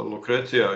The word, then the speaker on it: Lucrezia: yes okay and uh lucretia you were to i'm sorry i'm just uh you know pronouncing your name in an italian way because it is an italian name it is indeed like